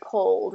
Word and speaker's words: cold: So he was feeling very cold.